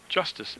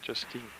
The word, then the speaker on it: Justice: And I think I mispronounced her name as I hear him call her Justice Jenkins, not Justine.